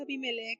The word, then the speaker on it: Abimelech: Y se pronuncia Abimelech, el rey de ese lugar, y le dice que el que tocare a este hombre o a esta mujer morirá.